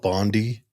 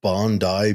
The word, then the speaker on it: Bondi: It's spelled Bondi, but Bondi Beach in Australia.